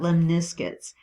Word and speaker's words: lemniscates: now we're going to talk about lemniscus um and that's the pronunciation according to webster's dictionary merriam-webster um i always say london